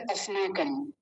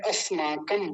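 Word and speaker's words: अस्माकम्: पहला शब्द है अस्माकम, ये भी बोला कीजिए। पहला शब्द है अस्माकम, पहले बोल दिया। देखिए इसका उच्चारण कैसे करेंगे। दंत्य सकार हलंत है, आधा है।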